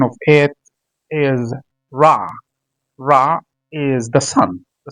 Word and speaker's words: Ra: of ancient Egypt, they call him Rah or Rey as people pronounce it as Rey. Ra or the actual word, the actual pronunciation of it is Rah.